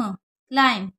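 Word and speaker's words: climb: तो क्लेवर क्ला आईम क्लाइम एम और बी साथ में होता है तो बी साइलेंट रहता है तो यह क्लाइम बढ़ा जाएगा यह क्या होगा क्लॉज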